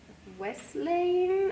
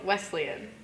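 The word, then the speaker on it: Wesleyan: win in the next upcoming game against Nibasa Wesling I think. Close. Thanks. Yeah. How do you say it normally? Wesleian.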